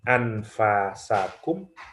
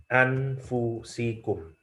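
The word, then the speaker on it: أنفسكم: Di surah Taubah, di surah At-Taubah ya, ayat 128 ada dua cara baca, bisa min anfasikum ya. Yang kedua bisa dibaca min anfusikum ya.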